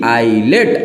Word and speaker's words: ILATE: के लिए सिंपल सा एक रूल आता है, आइलेट। क्या आता है? आइलेट। अब आइलेट क्या होता है सर? देखिए आइलेट क्या होता है, आइलेट नहीं समझते, ILATE आइलेट।